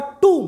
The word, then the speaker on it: tomb: एंड if unfit for टूम, pronunciation बेटा टूम, TOMB, टूम, B silent, टूम और hers, टूम